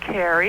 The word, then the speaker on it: Carrie: it's Carrie. It's Carrie. Like the movie.